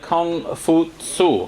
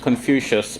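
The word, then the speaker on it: 孔夫子: out by the man named kung foo su and he's just pronounced confucius by people who don't want to bother saying that name in its original pronunciation so Confucianism is basically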